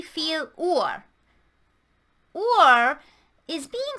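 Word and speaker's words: Uhr: how many v feel or or is being said this way because the u almost always makes an u sound in german the h does not change the sound it just makes it longer and the r is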